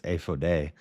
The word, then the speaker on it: ephod: I'm just going to speak in Hebrew because I know how to pronounce it. It's ephode.